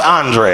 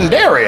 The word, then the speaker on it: Anderi: you ain't coming up that's pronounced andre i don't know if y'all been looking like who in the world is that and dairy i had them they